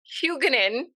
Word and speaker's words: Huguenin: We were just kind of giggling, you guys, because Nicole's last name is kind of hard to pronounce, honestly, and so it's Huguenin.